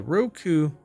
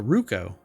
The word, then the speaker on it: Ruko: Skip flight school and start capturing epic moments with the Roku. Really? Uh, sorry, I pronounced that wrong. It's the Ruko.